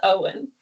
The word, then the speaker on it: Owynn: he's a good boy name is Owen knows a lot about history is a good boy by the way his name is spelled Oh Wyn oh wind yeah but